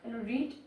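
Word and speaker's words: read: ভারবটা same থাকবে অর্থাৎ রিড থাকবে বানানটা বাট উচ্চারণটা হবে রেড আই রেড বুক আমি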